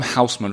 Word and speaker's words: Haussmann: at home Alman uh let's call him Houseman from now on yeah Houseman yeah that's the English pronunciation yeah born in 1809